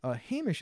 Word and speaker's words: Hamish: Hamish is actually pronounced Hamish, not Hamish, because I pronounced it Hamish, but it's Hamish.